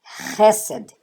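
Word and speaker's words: חסד: Então, H com E, Ré. Aqui é o Samer, que tem essa letra, ela tem o som de S. E abaixo dela você tem o Segol. Então, ó, Ré, Sé, D. Hesed, quer dizer misericórdia. Então, leia Hesed.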